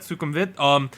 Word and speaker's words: Sukhumvit Swimming: That is how you pronounce that, Sukhumvit.